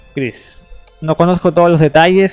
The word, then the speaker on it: Kris: esto en Twitter hoy antes de que se pronuncia Cris no conozco todos los detalles sobre la situación